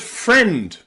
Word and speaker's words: friend: earlier busier and happier finally we have the word friend where the I and the E is pronounced as an exception it's pronounced e FR friend okay really common word too friend the I and the E here is pronounced e friend friend friend okay okay